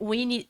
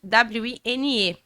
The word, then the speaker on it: Wine: Então, meu nome é Winnie, W-I-N-E. E era para ser escrito W-I-N-N-I-E, Winnie. Mas ele escreveu W-I-N-E e em inglês se lê wine, que significa vinho.